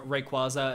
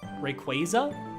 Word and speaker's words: Rayquaza: I pronounced uh Rayquaza as how it looks and not Rayqu Rayquaza. Rayquaza.